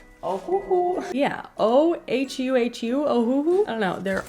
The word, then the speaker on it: Ohuhu: I'm for sure gonna pronounce this wrong. Ohuhu. Yeah, O-H-U-H-U, Ohuhu.